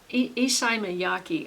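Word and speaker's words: Issey Miyake: York I think it's isai May mayaki isai mayaki I think is how you pronounce the one that really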